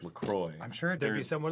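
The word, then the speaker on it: LaCroix: terrible on their website they say it's pronounced lacroy I'm sure' be someone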